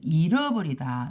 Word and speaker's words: 잃어버리다: 거하고는 잊어버리다 이렇게 잃어버리다 발음할 때도 잃어버리다 이렇게 발음해야 돼 잃어버리다 잃어버리다 이렇게 발음해야 되고 여기 발음할 때는 잊어버리다 이렇게 돼요 시험 결과가 어떻게 됐어요